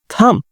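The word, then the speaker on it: thumb: আসুন আমরা আরো কিছু সাইলেন্ট বি যুক্ত শব্দ দেখে দিতে পারি। হিয়ার ইউ সি ওম, গর্ভ, গহ্বর। থাম, বুড়ো আঙ্গুল।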